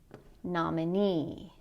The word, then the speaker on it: nominee: The stress is going to be on the suffix. So in these words, you're going to put stress on the last syllable. Employee, matinee, nominee.